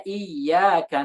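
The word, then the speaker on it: إياك: Atau misalnya iyyaka na'bud. Atau sayyarah. Atau huyyitum. Kenapa harus kita berikan tasydid? Karena kalau nggak kita beri tasydid, misalnya pada iyyaka na'bud, kalau tidak kita berikan nabr, itu nanti yang kita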